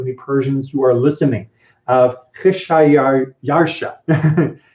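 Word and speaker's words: Xšayāršā: Kheshayarsha is apparently how the Persians would have pronounced the emperor that we're talking about.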